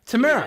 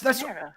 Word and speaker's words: Tamara: Have you ever seen Sister? That's how you pronounce it. Tia and Tamara Mowry. Yeah. Tamara. Yeah, that's Tamara.